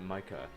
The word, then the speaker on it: Micah: It's spelled Micah, but pronounced Micah. Micah. It's pronounced Micah. The I is pronounced like a Y. Oh, yeah, I gotcha, yeah. Micah, like the word my.